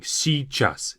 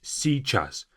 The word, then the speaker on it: сейчас: A very difficult part of this word is this si beginning. Сейчас. Сейчас. You can just simply say сейчас, сейчас, but you have to kind of add this little y there. Сейчас, сейчас. Just a tiny bit.